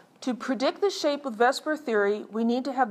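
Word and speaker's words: VSEPR: this is AEF rated vspr we use usually pronounce it Vesper even though that's you know kind of messing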